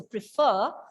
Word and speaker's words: prefer: closing sounds prefer prefer take care of the letter r prefer max but many others prefer prefer right so second syllable is stress so prefer pieces repeat some people